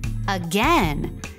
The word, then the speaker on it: again: Today's heart word is again, as in Dusty stole my slipper again. I'll give it back. Again rhymes with pen.